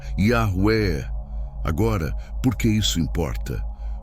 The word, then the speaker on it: Yahweh: à consoantes e Javiá, criando uma pronúncia híbrida impossível, Jehova. Depois, tradutores latinos transformaram isso em Jeová. Mais estudiosos bíblicos e linguistas concordam. A pronúncia original era Yahué.